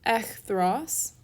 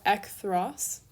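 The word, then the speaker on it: ἐχθρός: to our next adjective echthros or ekthros again depending on your pronunciation with that key ekthros takes a dative also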